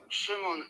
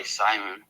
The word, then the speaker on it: Shimon: Shimon is Shimon. the original pronunciation. I go by Simon.